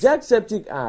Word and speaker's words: Jacksepticeye: Jacksepticeye. He even pronounced it right.